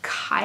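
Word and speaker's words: kye: a typo but um kai is how i'm gonna choose to pronounce it it's also plural for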